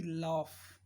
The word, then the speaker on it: laugh: ऐसे ही लॉफ, लॉफ, LAUGH, तो लॉ, लॉ, GH silent.